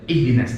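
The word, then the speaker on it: اهدنا: Sempurnakan i, jangan sampai dari ihdina, ihdina ya.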